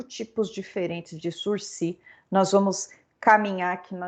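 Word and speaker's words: sursis: penal é o intitulado sursi o que é uma palavra francesa então nós vamos chamar de sursi não vamos pronunciar o s quando a gente disse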